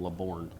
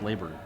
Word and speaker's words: Laor: uh laurn made some I'm really having a hard time not call him leborn why can't we call him leor because uh aslon asked him and it's pronounced laor laor so when did you